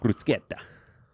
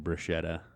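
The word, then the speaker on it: bruschetta: definition yeah yeah but yeah it's delicious Bruce brusketta brusketta yeah yeah we pronounce it wrong by saying br shetta well that's just cuz it's Engish SL but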